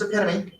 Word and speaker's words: epitome: down in the dictionary that word is pronounced epitome a boyfriend a girlfriend